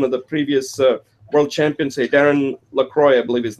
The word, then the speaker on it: Darren LaCroix: And in there, you actually mentioned something that you quoted one of the previous world champions, Darren LaCroix, I believe his name is pronounced.